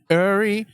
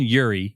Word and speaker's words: Uri: So Uri Reichenstein. Shout out Robbie Straczynski. I hope I got it right. He said, I was saying Yuri. He said, it's not Yuri, like there's a Y in front of it.